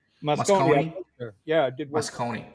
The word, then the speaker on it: Moscone: Oh, that's how you say it, Moscone? Moscone.